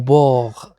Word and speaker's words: bord: إذا لاحظوا معي هنا أن الحرف D لا ننطقه. إذا au bord، إذا على ضفة أو على ضفاف البحر de la mer، au bord de la mer.